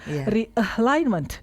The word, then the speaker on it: realignment: Realignment realignment gitu ya. So again stress on line. So notice how realignment and alignment share the same stressed part.